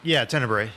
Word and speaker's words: Tenebrae: Yeah, he was in, what was it, Tenebrae? Am I pronouncing that right? Tenebrae.